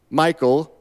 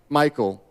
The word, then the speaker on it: Michal: give me my wife, Michal. Now, if we were going to pronounce that correctly, it'd probably be something more like Michal, but because I'm struggling with names already, I'm just going to call her Michal.